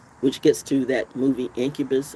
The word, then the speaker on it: Incubus: Which gets to that movie Incubus or whatever it is, which rhymes with succubus.